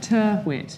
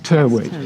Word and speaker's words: Tyrwhitt: How do you pronounce that? Tyrwhitt. Tyrwhitt.